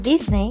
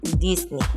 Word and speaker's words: Disney: Si eres de los que pronuncia Disney, déjame decirte que está mal. La pronunciación correcta es Disney.